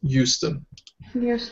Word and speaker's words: Houston: I know it's spelled with an H, but we pronounce it Houston.